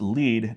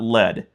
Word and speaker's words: Lead: And yes, the town is pronounced Lead, not Lead.